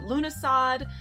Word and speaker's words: Lughnasadh: Lunasa, some pronounce it Lughnasadh, Lammas, and the first fruit.